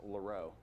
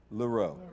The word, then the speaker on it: Laro: one more thing sure my name is pronounced laro laro okay my nickname is